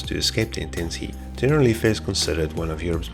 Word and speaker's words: Generalife: Okay, confirmed. Generalife. It's not general life.